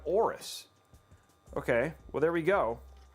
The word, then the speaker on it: AORUS: he probably mispronounced it so it's oris oh after the egyptian god aorus okay well there we